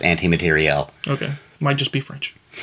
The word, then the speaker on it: materiel: But it is pronounced anti-materiel.